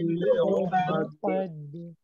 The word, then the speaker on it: العقد: ومن شر النفاثات في العقد قيد এমন যেন ওই কফের জবর উচ্চারণটা যেন একটু অস্পষ্ট না থাকে ক ক ক আচ্ছা